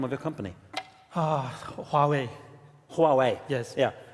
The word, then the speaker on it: Huawei: of your company huawei huawei yes yeah a lot of norwegians say who are we is that okay yeah